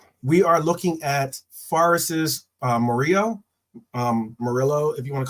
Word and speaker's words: Murillo: But apparently, we are looking at Forest's Murillo, if you want to call it that. But I think it might be said, because usually when it's double L, you pronounce it like a Y, Murillo.